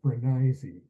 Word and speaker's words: Brenneise: It's pronounced pranisy.